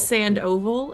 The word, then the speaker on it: Sandoval: I always I my brain wants to mix up the last two vowels and say A V O, but that's not right. Start pronouncing it sand oval and you'll be oval.